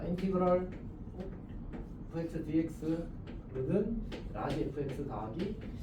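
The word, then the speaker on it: integral: 이걸 뭐라고 읽었지?이 발음에 대해서는 사실 여지가 있거든. 근데 이제 선생님은 보통 인티 그럴이라고 있습니다. 어메리카 스타일이네. 자, 중요하지 않습니다.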